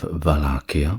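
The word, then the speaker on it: Wallachia: that is in the region of Valakia which is I believe pronounced that way in the Romanian despite its spelling or starting with a W.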